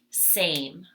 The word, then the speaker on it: same: So S, long A, says its own name, which means if we were coding in Saxon, we would put a macron over it. Same, silent E at the end. Again, if we were coding in Saxon, we would cross out the E because we do not hear it.